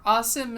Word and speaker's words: Asim: I feel like, quick disclaimer, Asim is how I've heard it pronounced by Pakistanis, but you pronounce names slightly different in Urdu than you do in Arabic.